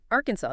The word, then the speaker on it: Arkansas: Now, Arkansas. This one's tricky because of the spelling. Very tricky. Crucially, ignore that final is in pronunciation. It's silent.